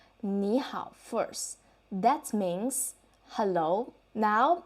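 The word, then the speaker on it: 你好: So based on our previous learning, you will feel that the pronunciation should be 你好. Is it right? And then this time, you will listen to me and I will say 你好.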